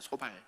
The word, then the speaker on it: 소발: 발음을 잘해야 됩니다. 소발.